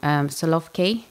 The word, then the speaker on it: Solovki: So talking about people who live in very much an agrarian society, you've done projects in, I think I might pronounce this wrong, Solovki?